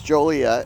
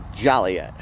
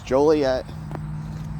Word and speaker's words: Joliet: Yes, it is Joliet.